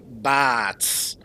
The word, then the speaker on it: Bartz: Bartz's name in Japanese is pronounced Bats.